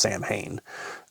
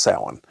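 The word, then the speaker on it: Samhain: Um it's s a m h a i n um which you would think is pronounced sam hayne. Uh which some people do pronounce that way, but that's incorrect. It's sin.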